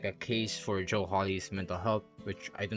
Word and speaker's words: Joe Hawley: They're just like Tally Hall or like Jolly Hall's uh Jolly Holes. I keep mispronouncing. I meant to say Joe Holly songs.